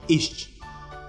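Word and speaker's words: iść: Следующая буква «с» с креской читается как «щ». «Идти». «Ищ».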